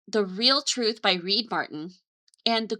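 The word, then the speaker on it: The Reel Truth: And it's called the real truth. real is spelled R E L like a real a film instead of R E A L but it's the real truth by Reed Martin.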